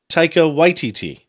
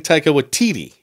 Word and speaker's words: Taika Waititi: First, Lisa Simpson says it, and she says Taika Waititi. Mm-hmm. with the emphasis on the first syllable. Mm-hmm. Because I've been saying Taika Waititi. Right. And I think later he says, he almost puts the emphasis on both, Taika Waititi.